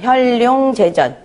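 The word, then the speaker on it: 현룡재전: 자, 볼 견자 나타날 현자 이렇게 되는데 이거는 그 나타날 현자로 써요. 그래서 혈룡제전이라고 읽어요. 혈룡제전.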